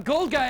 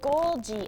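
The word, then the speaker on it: Golgi: A gold guy apparatus. Awesome. I'm going to get rich in this cell. Gique, not a gold guy apparatus. A GG apparatus.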